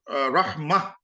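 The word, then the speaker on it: رحمة: Yeah, because if we just say rahma, we don't pronounce the last ha. Let's say we wrote rahma.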